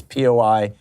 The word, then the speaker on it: Poilievre: I'm not certain how to pronounce it. It's Poilievre.